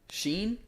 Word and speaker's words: Shein: I was just thinking about Shein and the kids. Which one? Shein, like the little kids working. Don't tell me you don't know about Shein.